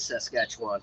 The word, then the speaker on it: Saskatchewan: montana is saskatchewan i was right it is saskatchewan okay and then to the west of saskatchewan probably butcher the name isn't he he didn't hear me